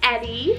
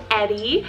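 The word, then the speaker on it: Ettie: I have this sweet name Eddy, spelled E-T-T-I-E, Eddy.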